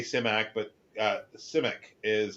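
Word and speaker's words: Simak: Clifford uh simac I say simac but uh simic is how he pronounces it himself he pronounces it his own surname simic uh but people say simac and it's like that is wrong that is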